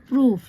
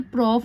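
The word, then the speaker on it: proof: ऑफ the test the प्रूफ यहां पर इसे देखिए प्रॉफ नहीं पढ़ना है प्रूफ पढ़ना है ठीक है आस्ड ईडी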